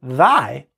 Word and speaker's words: thy: But in the word thy, it's not thigh, it's thy, th, th is the first phoneme, even though it's spelt